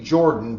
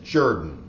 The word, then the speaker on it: Jordan: Now, I know a lot of people mispronounced that, but I did my best. It looks like it should be Jordan, but it is Jordan.